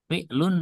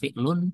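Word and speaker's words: فعلٌ: Ya, sehingga cara mengirobnya sodak itu ya sodak disukun kofnya fi'lun madhin dia fi'il madhi. Ingat bacanya fi'lun bukan fi'lu ya fi'lun madhin gitu ya.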